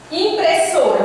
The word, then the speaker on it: impressora: Impressora, vamos aqui. Impressora, chame a palavra. Impressora, você demora mais no so.